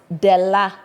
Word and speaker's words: Della: My name is pronounced Della. That's how you say it.